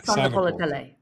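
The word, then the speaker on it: Sagapolutele: I think it's Songa, not Saga. Sagapolatele.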